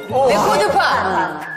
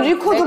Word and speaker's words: record: LP판을 우리가 LP판이라고도 하고 레코드판. 좋아요. 근데 이건 리코드고 레코드. 그건 레코드인데? 맞아요. 그 스펠링은 똑같아요. 네. 솔직히. 레코드. 근데 발음은 조금 달라요.